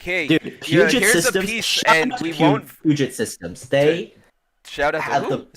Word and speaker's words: Puget: Ah, Puget. Okay. So, P like it would be spelled like Puget.